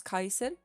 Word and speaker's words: Caesar: In ancient Latin, the C is always pronounced K. So like Julius Caesar would actually pronounce his own name Julius Kaiser.